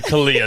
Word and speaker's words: Khalliah: Kala, did I say your name wrong? I'm sorry. Kala, that was my fault there.